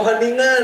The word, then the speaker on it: Wageningen: Iya, oh Wageningen ya, susah Bu itu dipronounce ya Bu.